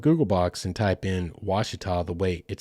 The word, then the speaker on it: Ouachita: But it is pronounced, I suppose, Ouachita, and it has been bastardized in a way in certain scenarios.